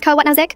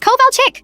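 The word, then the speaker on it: Kovalchik: It's Coal Chick? She shouted, slamming her hand on the desk. K O V A L C H I K. How hard is that?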